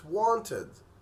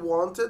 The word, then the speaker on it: wanted: وكمان معانا كلمة wanted، انت بتقول wanted بس هما بيقولوا wanted، I wanted to help you، يعني انا كنت محتاج او كنت عايز اساعدك.